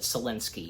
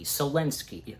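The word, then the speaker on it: Szalinski: the last name in mind on how to pronounce it seninsky seninsky seninsky seninsky that's how you say it okay all right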